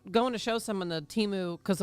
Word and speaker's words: Temu: I was going to show someone the Timu because I was like, we're pronouncing it wrong. You know, it's spelled Temu or however the heck it is.